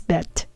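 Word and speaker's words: בְּ: But when in a context where it means in the, by, or by the, we pronounce it as ba.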